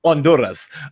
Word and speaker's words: Honduras: They said probably the H is silent. Honduras. So, okay, Honduras, Guatemala, Costa Rica.